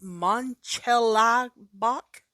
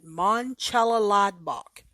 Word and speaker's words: Mönchengladbach: It is Mönchengladbach, I believe, is how they informed me to pronounce it last season. Mönchengladbach.